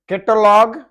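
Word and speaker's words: catalogue: कैटलॉग, कैटलॉग, you silent है।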